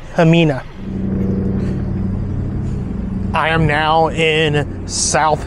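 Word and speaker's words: Ximena: by the way I asked Rose how you pronounce it it's hamina I am now in South Hill Virginia I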